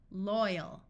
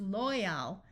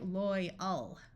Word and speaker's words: loyal: Now, this A looks like it would have a short A sound of owl, but often when AL is at the end of an English word, it becomes a muffled schwa sound more like So this could be pronounced loyal, but in reality, it sounds more like loyal, loyal.